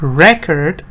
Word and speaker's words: record: Like record, as a noun, stress goes here. Record.